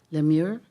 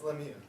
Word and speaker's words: Lemieux: So the first one that I would call up to the podium is Lemure. Did I pronounce that correctly? It's Lemieux.